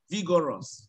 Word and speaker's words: vigorous: No, vigorous. Oh. Vigorous, not vigorous. No, not even rus. My problem is now with the O. Vigor, not vigo. Vigorous.